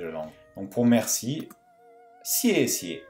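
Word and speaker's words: 谢谢: Donc pour merci, sié. Attention, là, la deuxième syllabe perd son ton. Sié. On ne dira pas sié, mais sié.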